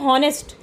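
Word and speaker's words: honest: Pronunciation के तौर पे नहीं आप कहते हैं ऑनेस्ट।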